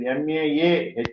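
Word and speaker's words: माहात्म्यम्: Sometimes it is difficult to pronounce the word Mahatmyam. It is MAAHAATMA, as it is done correctly in the transliteration. So Mahatmyam, Chaturtha Adhyaye, because of Sandhi it is then Chaturtha Adhyaya, Uchyate.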